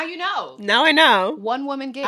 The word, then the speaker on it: WoahmanGig: You can find me on social media at One Woman Gig, but the woman is Woah. So it's one, like the number, WOAHMANGIG.